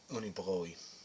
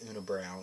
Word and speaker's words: Unibroue: i'm pretty i mean i know that's how the french would pronounce it but i mean it just sounds too much like when americans say they always say una brown it just sounds much